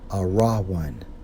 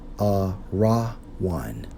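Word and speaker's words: ארון: according to the Hebrew Strong's H 727 pronounced as a raw one a raw one and according to outline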